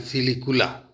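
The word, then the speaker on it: silicula: Fruit इसमें सिलिकुआ या सिलिकुला, देखिए यहाँ पे थोड़ी स्पेलिंग में गलती है, तो आप गौर से सुने मैं क्या बोल रहा हूँ, सिलिकुआ एंड सिलिकुला।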